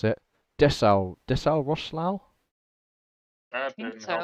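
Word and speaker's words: Dessau-Roßlau: Dessau Roslau? That I think didn't help so, me anything. because that weird B is pronounced as an S.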